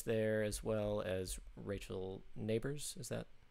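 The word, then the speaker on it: Nabors: Sarah Drasner's there, as well as Rachel Neighbors. Is that how you pronounce her last name? Yeah, Rachel Neighbors.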